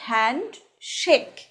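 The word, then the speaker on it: handshake: এবার বলতাম হ্যান্ডচিপ কর, হ্যান্ডচিপ কর, কিন্তু এটার সঠিক উচ্চারণ হ্যান্ডচিপ নয়, এটা হবে হ্যান্ড শেক।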